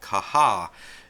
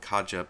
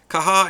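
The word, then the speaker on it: Caja: manager which is called kaha that is spelled CA J a I've heard some people call it Kaja but like I said this is a Spanish pronunciation so the correct way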